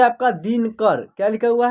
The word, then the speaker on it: दिनकर: देखिए दिनकर, ठीक है, दिनाकर ऐसे नहीं हो रहा है, दिनकर, ठीक है। यानी न में अ की साउंड का उच्चारण नहीं हो रहा है तो यहाँ एन ही लिखेंगे, ठीक है।